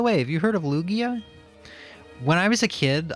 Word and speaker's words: Lugia: ] by the way have you heard of Lugia when I was a kid I actually didn't know how to pronounce it so I called him luigia it said that the Pokemon once uh said